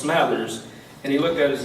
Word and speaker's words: Smathers: When we first met, we were trying to figure out how to pronounce his last name, and he told us Smathers.